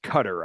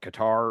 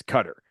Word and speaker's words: Qatar: we all call it Qatar or something like that guar yeah the right way to say it is it's cutter um even though it's